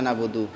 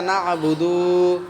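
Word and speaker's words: نعبد: হ্যাঁ কেউ টান করিও না বুদু ইয়াকা নাবুদু কেউ কেউ এরকম ভাবে টান করে এই বুদুটা দান করিও না ইয়াকা নাবুদু ওয়া ইয়াকা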